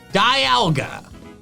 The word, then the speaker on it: Dialga: You don't say demon, you say diamond. Diamond, dialga. Also, dials, like a sundial. That's another time thing. In short, I'm gonna keep calling it dialga because I think that pronunciation makes just as much, if not more sense than dialga. And also it sounds more fearsome because its name starts with die.